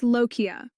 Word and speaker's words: lochia: The medical term for postpartum bleeding is lochia, pronounced l-o-h-k-i-a, and it is not the same as a period.